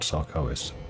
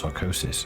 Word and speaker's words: Sarkoris: frost giants of old Sarkoris. Oh, I thought it was Sarkosis. It's not Sarkoris. I'm going to mispronounce it all the time.